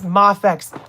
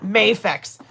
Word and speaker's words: Mafex: And it's Mafex, not Mayafex. Don't say Mayex. Um, Mafex. That's how that's how it's pronounced. So, yes, this at 4K we're giving away the MafX Spider-Man.